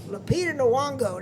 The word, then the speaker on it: Lupita Nyong'o: I can't pronounce her name. Lupita Nyong'o. Lupita Nyong'o, there you go, as Helena Troy, and people